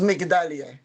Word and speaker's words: Migdalia: Migdalia je veux vérifier, parce que je pense que je t'appelle Magdalia et donc je veux m'assurer que je prononce bien votre nom. Est-ce que je le dis, Migdalia ? C'est comme ça que vous dites, s'il vous plaît dites-moi. - C'est Migdalia.